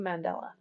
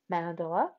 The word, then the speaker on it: mandala: it on my dream mandela what i wanted the dream mandela mandela mandala i always say it wrong it's something we create